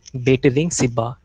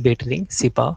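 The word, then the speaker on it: Betling Sib: की सबसे highest peak है उसका नाम है बेटलिंग सिब्बा, BETLING, बेटलिंग सिब्बा, स्पेलिंग थोड़ी सी अलग हो सकती है।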